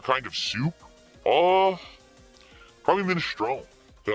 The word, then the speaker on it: minestrone: It's pronounced minestrone, Phil.